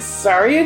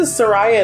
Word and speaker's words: Soraya: Well, now I feel stupid because I just realized her name is Soraya. All these years. I feel stupid. Is it though? Like, Saria just feels right, but like, now that I think about it, I'm like, it is spelt Soraya.